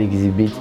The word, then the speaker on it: Xzibit: Bon voilà, c'est comme ça, j'étais posé chez moi un dimanche, j'ai eu la chance de coiffer un Américain qu'on appelle Exhibit. Aujourd'hui, il prononce bien son nom parce qu'on m'a parlé un peu de lui.